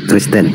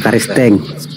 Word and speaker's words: Kristen: Kristen bukan karisteng.